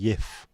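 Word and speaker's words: Jif: CF it is because the letter J is pronounced completely different all over bleeding Europe and the rest of the world so in Spain it'd be called in Holland sorry Netherlands and Germany it be YF in England JF there's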